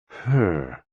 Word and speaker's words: He: HE, pronounced like her, with a yawn, which is associated with the heart.